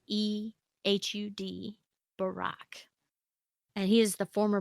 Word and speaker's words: Ehud Barak: say his name hewed Barak he hood hood he hood Barack right Ehud Barak and he is the former Prime Minister of